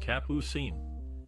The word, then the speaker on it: Capucine: Capucine, the actress born as German Lefebvre, took her stage name from the French word for the nasturtium flower, pronounced Capucine.